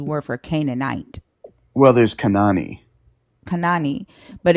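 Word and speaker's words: כנען: and then naan and that's how you pronounce it Kanan and not Canan Kanan k um yeah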